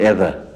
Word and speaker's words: ether: you are joined to me by matter by either. Do you pronounce it either or ether?